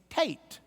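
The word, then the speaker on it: Teth: and the next one kind of rhymes with K it's Tate and Tate was originally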